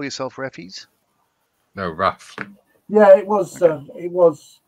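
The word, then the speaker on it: RAAF: see we call us Raph as in ourf is pronounced Raph not rap but we don't need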